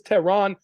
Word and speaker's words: Tehran: And my name is Tehran, like the capital of Iran.